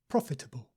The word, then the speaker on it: profitable: so did you say profitable profitable with the stress on the first syllable try again profitable profitable and it comes